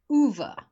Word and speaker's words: Ove: club based on audiobook listeners ha that is pronounced huva movie man called ova alrighty so it's Swedish the author is Frederick